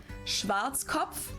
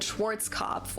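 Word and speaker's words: Schwarzkopf: Schwartzkov. English native speakers usually pronounce it Schwarzoff or Schwartz cough or something along those lines.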